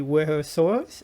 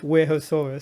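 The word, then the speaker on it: Wuerhosaurus: animal would be the warehouse source um i'm still not sure if i'm pronouncing that right i don't think anyone does um i think it's pronounced werehoesaurus so we're going to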